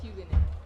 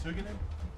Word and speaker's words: Hugin: cool also it's pronounced hugan okay it's hugan hugan hug more hug not who or you how's that right there